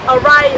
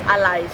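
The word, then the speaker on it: อะไร: Again, it's the ARAI. ARAI is with an R, but because Thais don't really pronounce the R's, it becomes ALAI.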